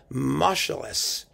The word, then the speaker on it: Moscheles: so first ignatzmo shelley's who is actually pronounced marshalless apparently but marshalless i don't know that just sounds horrible to me so as far